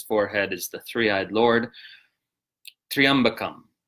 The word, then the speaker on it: tryaṃbakaṃ: So the first word is tryaṃbakaṃ. Tryaṃbakaṃ is the correct pronunciation, not tryaṃbakaṃ. So it's tryaṃbakaṃ like a tree. Think of a tree, you know, like a tall wooden plant, not tri. So tryaṃbakaṃ, the three-eyed Lord.